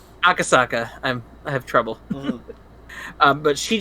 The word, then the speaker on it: Akasaka: I can't pronounce it. Akasaka. Akasaka.